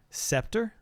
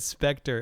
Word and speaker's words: scepter: Scepter? It didn't say scepter? Or do you mean mispronounce? Did I mispronounce it? Did I say specter? Shame on me.